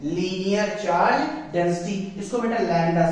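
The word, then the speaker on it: lambda: But this is what लैम्डा। ठीक है, बी वैसे साइलेंट हो जाता है बोलते समय, जल्दी में लैम्डा चलता है।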